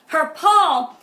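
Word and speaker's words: חרפה: Harpal, it's actually pronounced harpal, and it means to be disgraced.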